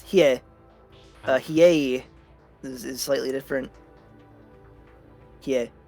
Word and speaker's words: Hiei: It's Hiei, by the way. Hiei. Pronounced Hiei.